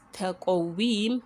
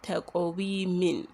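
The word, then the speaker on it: تقويم: So it is taqawim, we are substituting it with a sukun, taqawim, and not taqawimin, except if we are pronouncing it if you are joining it with the next verse.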